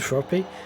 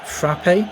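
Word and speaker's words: frappé: It's a It's a I think it's a misprononunciation of like frappe. I think it's just the way he's pronounced it cuz he's tried to rhyme it with crappie, which is, as far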